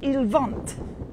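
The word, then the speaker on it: il vente: wind uh iliad there is wind or simply ilvant it's winding i quite like that so i'm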